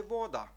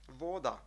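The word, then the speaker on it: voda: трішки наголос можемо зробити Ми кажемо в українській мові зазвичай вода а Чеською буде вода вода і наступний звук глухий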